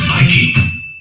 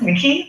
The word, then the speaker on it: Mickey: This is Nike. Wait. It's pronounced Mickey, like the mouse?